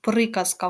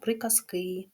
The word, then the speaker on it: приказка: склад приказки і частки Зверніть увагу що в однині приказка в нас падає на голос на перший склад А у множині приказки на останній і закріпимо вивчене пропоную